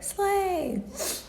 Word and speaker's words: sleigh: the different colors to remember that silent gh is silent. It has no sound. So write gh here and blue. So they can know that blue has gh has no sound. So everybody once again slay sleigh.